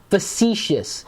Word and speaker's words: facetious: Facetious. It begins with F. Rich Tech 101. Facetious. Actually, it looks like it's spelled face-tious. It's really weird.